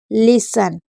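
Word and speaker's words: listen: अपो सल एसल ब्रेसल बसल castle fashion hustle लिसन इसको एक बार खुद से भी रीड करिए उसके बाद केक अब साइलेंट होता है के कब साइलेंट होता है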